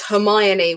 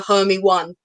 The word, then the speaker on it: Hermione: on the wednesday one i was one of those people that didn't realize hermione was hermione i was a homie one so don't trust me to pronounce anything i that's how i would pronounce it before the film came out and then i was like oh god i've been saying that wrong for like four years my parents never corrected